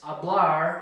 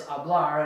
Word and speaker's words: hablar: And maybe that's the trick that you keep in mind, that that since hablar is hablar and not hablar, it's hablar, then you know that